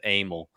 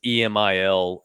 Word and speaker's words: Emil: and I maybe his he may pronounce that AML but it's Emil wanka Jr and who that is